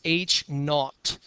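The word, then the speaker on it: H₀: the hypothesis labels and the way that you pronounce this H Subzero is H not okay that's how you say it h not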